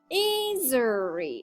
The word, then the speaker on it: Esri: And more functions and and the ESRI revises logo and beame of uh March 19th encourages employees pronounce of the company's name as Azeri.